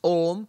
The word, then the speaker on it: Om: Actually, if you pronounce Om, you go through the entirety of all sounds because it starts with an open mouth, A. And then you slowly close the mouth, O.